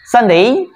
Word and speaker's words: Sunday: আমরা এবার হচ্ছে sunday এটা উচ্চারণটা খুব ছোট সা সা sunday sunday এখানে টান হবে day sunday sunday এটা ব্রিটিশ আমেরিকান